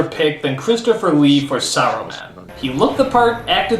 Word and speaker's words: Saruman: is for some reason they stopped pronouncing the S and simply call him Arrowman. Why? Is the S suddenly a bad word? Only because Aruman is kind. It should have been his friend Aruman. How long since Aruman? Saruman, you idiot! It's pronounced Saruman! The S isn't silent!